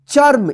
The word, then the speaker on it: चर्म: की मात्रा है तो इस रेफ की मात्रा का उच्चारण जो है ना इस च के बाद आधा र होगा ठीक है ना क्या होगा चर्म इसको चर्म मत पढ़िए ठीक है ना इसी तरह से